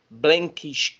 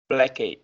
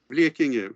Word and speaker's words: Blekinge: I don't really recognize your pronunciation there. So Blekinge. Blackish. Blekinge.